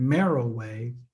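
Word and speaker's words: Meroe: simply google pyramids and merrill way um and mariway is not spell it's it's almost like it's m-e-r-o-e so that appear to be monroe but merrill way is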